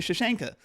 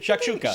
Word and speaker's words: shakshuka: traffic and too much tomato sauce in your shashanka. Is that how it's pronounced? I'm Are you not saying? sure. Are you thinking Shakshuka.